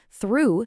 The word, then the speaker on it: through: Through sounds like you, means in and out.